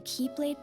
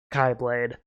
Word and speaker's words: Keyblade: in the game that it can either be pronounced chi or key so instead of calling it the keyblade i like to call it kai blade ventus set out toward